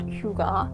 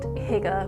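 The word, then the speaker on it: hygge: by louisa thomas britz you've probably seen the word Hyuga that is a correct pronunciation apparently my colleagues have been calling it Higa which is just incorrect like I myself I'm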